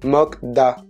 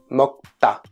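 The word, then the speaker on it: 먹다: est né autre exemple le verre manger qu on lit souvent écrit mokdad bah en fait ça se prononce motta et tout ça c'est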